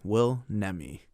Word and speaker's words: Nemi: us here how do you prefer your name pronounced wills fine nemi will nemi and that's your IMDB name is that the